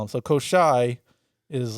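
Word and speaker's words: Koschei: His name is Koshai the Immortal. Oh, Kocha? Koshai. All right. I could say Koshai. I read it differently on the internet, but I think it's Koshai is what they'll call him.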